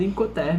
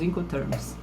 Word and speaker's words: Incoterms: coisas então mude de gente acaba falando incoterm mesmo mas o correto é a pronúncia correta são os encontros são um conjunto de